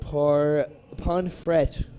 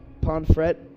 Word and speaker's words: Pomfret: Ponfret. Oh, yeah, that's got to be. Pomfret. Ponfret. Oh, no, I think it's Pomfret. We're in the U.S., so. We're going to pronounce the T. We're going to pronounce that T. I was going to say, no silent T's here.